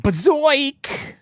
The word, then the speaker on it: Bazoik: The Chex warrior repels the Flemoids from the planet Bazoik with his Zorcher, creating colonists in the process. I've never heard a more 90 sentence in my life. You actually wild. You mispronounced it. It's Bazoik.